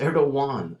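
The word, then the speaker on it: Erdoğan: way over in France he met with President Erewhon it's pronounced Erewhon and do you know who he is a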